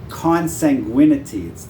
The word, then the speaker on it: consanguinity: In Israel, I think it's, amongst the Arabs, it's 25% consanguinity. That's how you pronounce it.